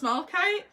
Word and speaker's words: malachite: Oh, that's malachite? Yeah. Oh, wow, that's cool. Yeah. So malachite. Yeah, we're saying it right. Malachite.